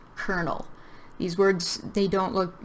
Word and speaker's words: colonel: And this word is pronounced colonel. These words, they don't look, the spelling is totally different from how you pronounce them.